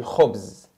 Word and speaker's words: khobz: Ana kanakul, moi je mange le khobz. Le khobz. Le, ça c'est le, comme on a vu. Le, les, la, tout ça on traduit par le. Ok. Khobz. K-H, ça se prononce kh. Kh, khobz. Khobz.